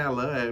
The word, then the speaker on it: Alain: Bom, meu nome é Alain, se escreve Alain, ele é Alain, é francês, né?